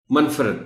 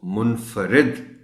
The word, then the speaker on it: منفرد: خیال رکھنا ہے۔ منفرد، منفرد پڑھ جاتے ہیں لوگ، میں خود کسی زمانے میں اس کو منفرد پڑھ جاتا تھا، تو اس کو منفرد پڑھنا ہے۔ معدنیات، معدنیات، دنیات، حسن،